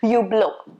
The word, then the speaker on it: Hublot: list next one is you blow it's not supposed to be hublot it's not supposed to be hublot t is silent and h is also supposed to be silent supposed to be you blow okay you blow and